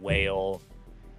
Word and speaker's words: Wayle: it's like a giant whale, and like kraken tentacle arms. It's a Out of whale, its side. but it's spelled Wayle. Whale. It's a whale.